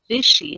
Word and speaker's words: Bisshie: or as readers of your work know you vishy am I pronouncing that right you are pronouncing that right